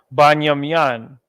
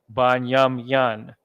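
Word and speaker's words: בנימין: We are still using the ancient pronunciation, the ancient dialect, so to speak. Okay, we're not pronouncing it the way the Yiddish people do it. Again, we're not even using vowels when we say it. We're just saying the word as it originated.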